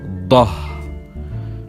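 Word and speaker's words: ض: Then we have Dad, written like Sad, but with a point on top, and we pronounce it Dah. Also the sister of Dal, but a bit stronger.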